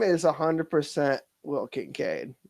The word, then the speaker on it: Kincaid: Can you not pronounce things? Percival? William Percival Kincaid. Yes. Kincaid.